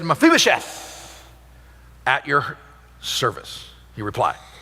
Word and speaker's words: Mephibosheth: That's what we're going to have a pronunciation guide up on the screens with the little ball, Mephibosheth.